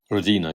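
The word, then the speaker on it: Родина: The Russians have Rodina. Rodina. I'm glad you're here to get the pronunciation correct.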